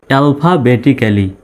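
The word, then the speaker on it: alphabetically: double L ওয়াই লি double L আস জন্য double L উচ্চারিত হবে না একটা এল শুধু উচ্চারিত হবে অ্যালফাবেটিক্যালি মানে বর্ণমালা অনুসারে এডিড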